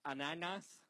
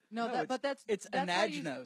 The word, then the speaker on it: Anagnos: So it's ananas. Anagnos. That's how you say pineapple in French. Ananas. No, it's anagnos.